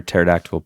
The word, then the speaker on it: pterodactyl: can't you hear a pterodactyle p you know this what is it because the p is silent oh yeah that's right